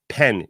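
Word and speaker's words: פן: shma the second paragraph shma so it says pen is the word that we use like the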